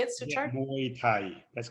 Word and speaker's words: Muay Thai: Yeah, Muay Thai.